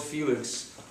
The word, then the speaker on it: Felix: Sears catalog, but 7-year-old Felix, whose mother pronounces his name Feli, Puerto Rican style with a silent S.